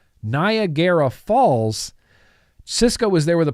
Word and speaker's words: Niagara Falls: he was building an RDA it was at nagera Falls it was at nagera Falls Addy tonei at Nar at naraya Falls Nar nagera sorry I can't believe I keep pronouncing that so wrong Niagara Falls Cisco was there with a prototype he had